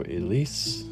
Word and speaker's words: Elise: So Elise would be like this. So to be clear what I'm doing here, we've got a E-L-I-S and Elise. The E at the end is silent, so we put a dot like that.